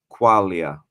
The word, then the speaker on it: Quaglia: He's like, oh, people mispronounce it sometimes because it's got a Q and it's got a silent G. It's spelled Quaglia, but in Italian that G you don't make that sound, and it's just Quaglia.